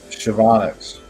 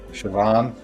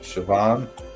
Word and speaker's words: Siobhan: Going to give it a good, you say it like Shavonix. Siobhan. Oh, Siobhan.